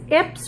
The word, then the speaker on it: Ips: It says Ips rhyme with chips.